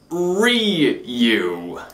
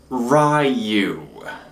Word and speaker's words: Ryu: It's Ryu, not Ryu.